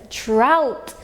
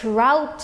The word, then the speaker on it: drought: This is drought. Now look at the word drought here.